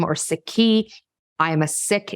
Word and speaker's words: Sikh: sikhi I am a sick it's spelled s-i-k-h where as we try to decolonize language it's properly pronounced as thick and not seek father was turban beard